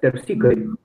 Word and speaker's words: Terpsichore: Okay, and just a small pronunciation thing about the name of the news. That's terpsichore.